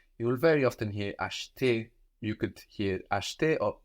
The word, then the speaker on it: acheter: To buy is acheter, acheter. Acheter. Or acheter. Acheter. So this is spelled A-C-H, no, which gives us sh, E-T-E-R. And that middle E, that E in the middle, is a bit swallowed.